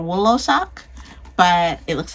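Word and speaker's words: Wlosok: I don't know if the W is silent. So either Losak or Woolosak.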